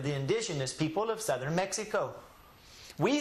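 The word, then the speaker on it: México: Thus, when we pronounce the name of this word in Spanish, what do the Spanish people call this? Mexico. Mexico. The reason they say Mexico is because this is a Indian word.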